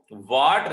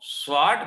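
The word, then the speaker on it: Swarts: एक जमाना था जब एस साइलेंट रहता था इसमें, इसको वाट रिएक्शन बोला जाता था, बट उस वाट की वाट लगा दी, अब इसको स्वाट रिएक्शन के नाम से पहचाना जाता है।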